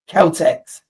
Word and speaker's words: KELTX: Did I pronounce it right? Is that what this is? Calteex. It is indeed. Yeah, that's exactly what it is.